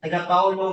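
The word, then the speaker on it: Tagakaulo: tago tago or tagulo spelled as t a g a k a u l o pronounced as tago with stress in a syllable cow.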